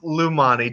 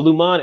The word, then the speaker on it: Lajani: It's Lumani. Just imagine the J is silent. Oh, Lumani.